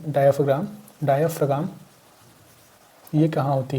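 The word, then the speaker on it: diaphragm: Pronunciation सही रखिएगा। डायफग्राम।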